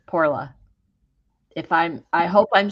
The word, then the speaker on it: Porla: It's Porla. I hope I'm saying it correctly because she did spell it out for me. Porla. It sounds like, it looks like Paula, but it sounds like Poorla.